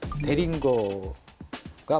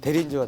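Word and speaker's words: Deringer: 대린저는 19세기 이제 미국의 권총 제작자인 헨리 데링거가 만든 건데 이거를 말을 잘못해서 독일 발음이 영어 발음이니까 이름을 잘못 불러서 이게 대린저가 된 거예요.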